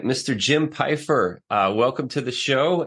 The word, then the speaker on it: Pfeifer: know why you know our family pronounces it Piper I lived in Germany